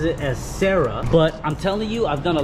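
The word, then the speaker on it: Cera: Everyone calls it a Sera, but it is pronounced Sera, like que sera, like what will be, it will be.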